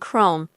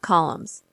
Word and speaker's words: Chrome: My grandmother tried to correct his mispronunciations, pointing out that it was Google, not goggles, and Chrome, not columns.